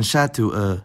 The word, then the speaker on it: chats: the word, like in chatou, chat and chouette, well, chouette. As you might have gathered by now, that S is silent, but it will reappear, pronounced as Z in liaison.